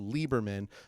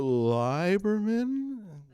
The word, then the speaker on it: Lieberman: on the receipt because my last name is actually pronounced Lieberman but what I always get is well thanks for shopping here mr. librarian now I try not to